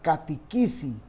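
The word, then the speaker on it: κατήχησις: Pero la palabra es katishisi y se pronuncia en realidad catequisi y viene de la palabra que se usa para catecismo.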